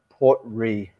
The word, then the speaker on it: Port Ruighe: So yeah, it's just pronounced R-E-E.